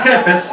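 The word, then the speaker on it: חפץ: La raíz de esta palabra jefes, así se pronuncia, son las letras Hei, Fei y Sadik.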